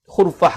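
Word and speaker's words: خُرْفَة: Lalu Syekh Abdullah bersebut bidhammil kha wa sukunir ra. Bacanya dengan di baris depan huruf kha dan di baris mati pada huruf ra.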